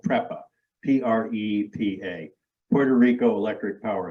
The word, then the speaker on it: PREPA: me on the name the utility is called prepa p-r-e-p-a Puerto Rico Electric Power Authority in Spanish